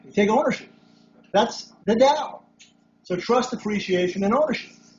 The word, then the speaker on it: Tao: the Tao of Dentistry know me down the Dow it's pronounced Dow it's pronounced down yeah not like